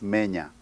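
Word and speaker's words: Menes: In books, they spell it Mene. Wrong, it's Menya.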